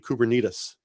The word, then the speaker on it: Kubernetes: If you take only one thing away, I think the correct pronunciation is actually Kubernetes.